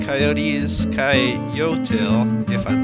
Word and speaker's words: coyotl: The Aztecs called coyotes coyotl, if I'm pronouncing that right, and that was not only